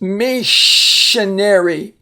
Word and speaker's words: missionary: we have Miss and it be pronounced missionary uh the s i there is going to give us the sh sound a missionary is someone